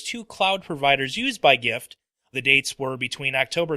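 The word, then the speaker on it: Gyft: in number three um the gift card company gift uh that's called that's spelled g-y-f-t uh they suffered a data breach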